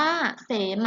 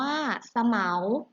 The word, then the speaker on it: เสมา: อย่าง ที่ สอง ค่ะ ก็ อ่าน ว่า เสมา นะ คะ ซึ่ง หมาย ถึง เครื่อง หมาย บอก เขต โบสถ์ นะ คะ ภาพ ที่ 2 อ่าน ว่า สะ เหมา หมาย ถึง ชื่อ พืช ชนิด หนึ่ง ค่ะ ของ รูป นะ คะ